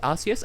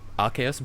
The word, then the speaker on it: Arceus: I do pronounce it Arceus, and I know that's technically wrong, because as Austin on Sugar has told me many times, it's supposed to be Arc plus Deus, so Arceus, but I call it Arceus,